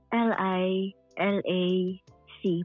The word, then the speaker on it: Lilac: Ano ba basa yan? Lila or lilac? Parang ganun. Lilak po. Ah, Lilak. Oo. Anyways, si Lilcan pa yan L I. How do you spell that? L I L A C para maiba naman. Ah okay. So lilac ang basa diyan.